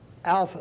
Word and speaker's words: alpha: little a in English it has the same kind of sound that an A has in English like the a in father ah Alpha is the way it's pronounced the second letter is